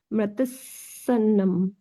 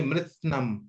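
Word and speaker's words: मृत्स्नम्: विशर्करम मृतसन्नम मृतसन्नम ने मृत्सनम, मृत्सनम। मृत्स्नम मृत्स्नम हाँ।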